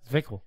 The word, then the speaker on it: Zwickl: How do you pronounce that? Zwickl.